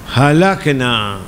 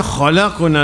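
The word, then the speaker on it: خلقنا: Mais si on rate ça de là, par faute, on dit halakna, he, qu'on appelle he flair.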